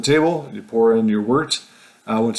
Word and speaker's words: wort: The next word is wort. If you're reading it, spelled like wort, so it sounds horrible, but actually it's a good thing.